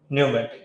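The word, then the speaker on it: pneumatic: उनको कते नूमेटिक टायर क्या नूमेटिक य पी साइलेंट रहेगा फिर 1937 से 41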